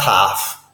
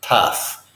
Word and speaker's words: tough: hard and tough tough I disagree with the vowel sound that they've indicated here it says tough it's not tough it's tough it's a schwa sound tough I'll explain about